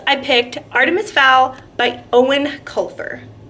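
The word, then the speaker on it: Eoin: picked Artemis Fowl by owen Culver I looked it up on his website that's how you say it Owen apparently but I'm cheating a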